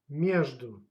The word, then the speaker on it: между: Между. Между. Между, it's mean between. And pay attention. The stress goes on a first syllable.